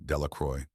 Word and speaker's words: Delacroix: Bobby and Harry Jones and Dickie Delacroix, the villagers pronounced this name Delacroix, eventually made a great